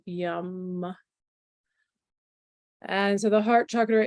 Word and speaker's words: Yam: So it's spelled like yam, but it's pronounced yum.